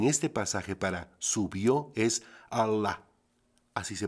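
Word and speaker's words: עָלָה: La palabra hebrea escrita en este pasaje para subió es Allah. Así se pronuncia.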